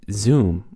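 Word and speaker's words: Xoom: service like venmo and zoom which is spelled xom this is an international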